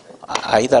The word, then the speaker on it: AIDA: 먼저 아이다 올리가 있어요 아이다 aida 아이다 라고 읽어요 어 아이다 라고 읽습니다 영어 두문자 요 aider